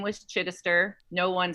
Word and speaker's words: Chidister: well it's funny because my maiden name was chidister no one spelled it right or said it right ever um it's spelled c-h-i-d chin esther e-s-t-e-r seems simple is